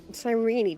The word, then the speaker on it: Sirene: Sirene doesn't feel like that. That's how that word should be pronounced. Like even the auto captions when I say sirene it comes up.